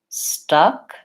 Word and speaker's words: stuck: listen to them all stack forward stock open it back stuck very central relaxed tongue not very open same thing goes then